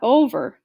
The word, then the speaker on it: Over: "No, no, not over. Auntie Over rhymes with clover.